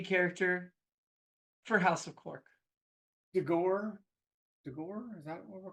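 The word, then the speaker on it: D'Ghor: is your shady character for House of cork dor dor is that what we're call how could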